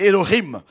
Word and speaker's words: Elohim: ou encore Elohim Elohim ça écrit en français Élohim mais c'est ellohim alors il ne pouvait